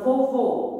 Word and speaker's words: vovô: A sílaba mais forte é a última sílaba. Vamos analisar se o som é aberto ou fechado. Vovô. Vejo que o som é fechado. Então, o acento será acento circunflexo.